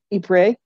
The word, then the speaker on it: Ypres: His brother, my great uncle Donald, died in, I'm never going to pronounce this well because I never took French, but it's Ypres.